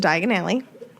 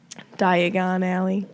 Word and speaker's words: Diagon Alley: Diagon Alley. Diagonally. Diagonally.